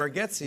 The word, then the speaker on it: Bargatze: And I thought it was Bargatze, but it's Bargatze.